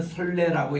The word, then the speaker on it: 소래: 이 소래가 우리는 설레라고 이렇게 발음하는데 한문으로 쓰면은 소나무 송자에 이제 내 안내자입니다. 설레입니다. 이거를 설레라고 황해도 사람은 발음해요.